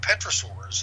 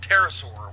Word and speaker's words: pterosaur: of people seeing living Petra sores you know the pterodactyls that pronounced that wrong Petrus or pterosaur pterosaur what am I talking about yeah that's the P is silent sorry that's an old